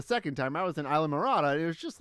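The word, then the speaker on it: Islamorada: Isla Marata. Isle of Marata? No, Isla. Isla. Isla Yeah.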